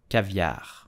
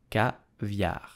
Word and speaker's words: caviar: produces his own caviar, but how do we pronounce it correctly with a typical French accent? So you will say caviar, caviar, caviar.